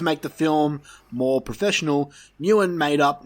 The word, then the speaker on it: Nguyen: So, due to the film's limited budget, director James Nguyen, I don't know. Okay, there you go. The G is silent, apparently.